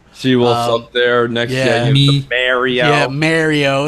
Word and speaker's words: Mario: originality right you know Mario you say it's Italian the A you know I don't believe anybody from Italy will ever tell you a is pronounced a mah nobody's doing ma in Italy. It's it's it's ma. Yeah. Right. So it's it's Mario.